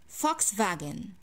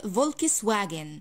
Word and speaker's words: Volkswagen: silence so right now omni how can i pronounce this chord brain let's go i say fox wagon vox vagan vox vagin so it's not volkswagen we do not read what's in front of